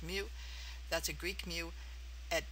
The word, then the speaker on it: mu: the entire population use the greek letter mu pronounced mu that's a greek mu at times you will